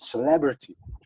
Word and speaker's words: celebrity: So celebrity, yeah, development. But in English, you have to do it on the second syllable, so development and celebrity.